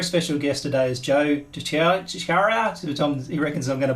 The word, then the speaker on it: DiChiara: It's DiChiara. DiChiara. Yeah. Depends on where you put the emphasis, right?